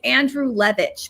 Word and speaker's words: Andrulewicz: It's It's Andrew Levich, but most people just stick with a toz because it's you know it's a bit easier.